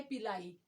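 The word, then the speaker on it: pili: पास आ जाता है पिलाई या पिली दोनों प्रोनाउंस कर सकते हैं इसको पिली जो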